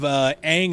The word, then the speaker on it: Aang: a movie loosely based on the cartoon didn't they not even pronounce the main character's name correctly several of the characters instead of aang and sokka it was on and Sokka Wow sim by oh